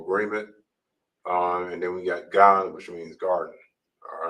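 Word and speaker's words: גן: And now we have Gan, not gun, but Gan, which means garden in Hebrew.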